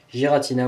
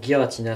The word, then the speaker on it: Giratina: Donc là on a la petite Giratina ou Giratina selon les prononciations.